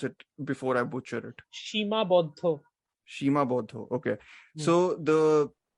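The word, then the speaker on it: Seemabaddha: uh so the film tell me how to pronounce it before I butcher it Shima Bodo Shima Bodo okay so the the central conceit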